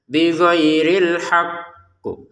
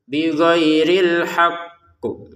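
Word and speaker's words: بغير الحق: Bighairil haqah ditekan dulu hak baru qo seperti itu ya. Bighhairil haqqu. Bighhairil haqqu.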